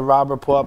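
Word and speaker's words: Robb Report: if you're familiar with the rob report but it's spelled ro BB report and every year the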